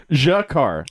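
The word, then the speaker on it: G'Kar: Jakar. Jakar. Not Shakar. No, it sounded like Shakar. It is Jakar.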